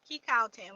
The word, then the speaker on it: Ki Cow Tan: Ki Cow Tan, like a cow. Ki, like a key. Cow, like a cow. Tan, or tan. Whichever one you say, tan. We say tan.